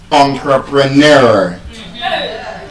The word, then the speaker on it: entrepreneur: Now, the correct pronunciation of that word is actually entrepreneur. It has a long sound at the end.